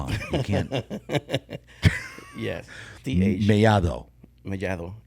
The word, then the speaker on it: Mellado: TH. Mellado is in Spanish. See? Yeah, that's what I'm saying. That's the correct pronunciation. Yeah, Mellado. Yeah. So the D's like a T. It's pronounced like a TH.